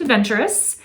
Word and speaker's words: Adventure Us: relationships so hence the new name change adventure us pronounced adventurous and because it just